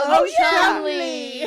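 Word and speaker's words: Cholmondeley: Chumley is Chumley. spelled Okay. Okay, Oh wait, spell it.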